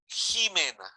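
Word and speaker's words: Ximena: wife was called simena that was called Jimena so the ex was had a pronunciation of a j okay Queen just I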